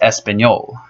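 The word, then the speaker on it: español: in English but you denied of Lee it's pronounced espanol or you know read espanol in French I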